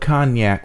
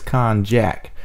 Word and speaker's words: cognac: She asked Hiccup what cognac was, or in her ghetto language, she pronounced cognac as konjac.